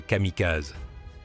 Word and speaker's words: Kamikaze: Les Américains les appelleraient Kamikaz, la prononciation courante des mêmes caractères kanji.